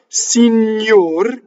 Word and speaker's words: signor: Signor, closed O. Now, I exaggerated the O, but it is closed O. Why? We tend to harmonize. If we're an English speaker, we harmonize R's. So we say door, right? More. So the R influences the preceding vowel and bleeds into it